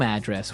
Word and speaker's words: address: So, different from your home address where you live. Yeah. And there the stress is on the first syllable address.